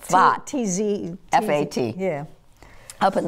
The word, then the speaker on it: Safed: And there's one said, and Randy is now living in Israel in Sfat, the place that we spell S-A-F-E-D, Safed. It's pronounced Sfat.